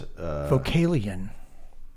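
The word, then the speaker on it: Vocalion: Vocalian, is that how you pronounce it? Yeah, it's Vocalian.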